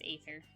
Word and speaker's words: Aether: But anyway, but I do have an OC whose name's Aether. And it's spelled the A. So, if you ever hear me talk about him, no, I'm not mispronouncing it, or if it's potentially mispronounceable, but that's just how that is.